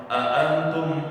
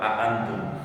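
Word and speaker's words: أأنتم: Antum dibacanya dengan a, ada dua hamzah di situ. Bitahqiqil hamzatain. Bisa juga nanti dengan dipanjangin antum, tapi itu dalam qiraat yang lain. Qiraat kita tetap antum.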